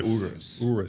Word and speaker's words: Urus: So first of all, how do you say Urus or Urus?